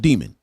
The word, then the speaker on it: daemon: It's called daemon. I've never heard it pronounced any other way, right?